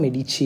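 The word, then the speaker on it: Medici: families മെഡിച്ചി ഒന്നാമത്തെ മെഡിച്ചി അപ്പോ അവിടെ spelling ME ഡി ഐ സിഐ ആണ് അതിന്റെ ഉച്ചാരണം മെഡിച്ചി എന്നാണ് ഇറ്റാലിയൻ വേർഡ് ആണ് മെഡിച്ചി അപ്പോ സിറ്റീസ് ഫ്ലോറൻസ് ഓക്കേ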